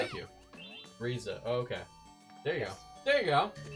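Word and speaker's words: Ryza: Atelier Reza or whatever. I'm probably mispronouncing the second word too. Yeah, that makes more sense. It's Riza. Thank you. Riza.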